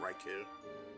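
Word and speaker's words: Raichu: I I pronounce it Reicho, but a lot of people pronounce it Reichu.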